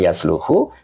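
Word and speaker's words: يصلح: ya jadi itu Pak Jadi kenapa bacanya yasluhu karena di kamusnya itu shaha kemudian garis di sini ada donmaah nah itu kita lihat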